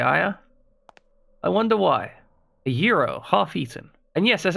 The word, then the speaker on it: gyro: A gyro, half eaten. And yes, that's actually pronounced gyro, or I believe it's pronounced gyro rather than gyro.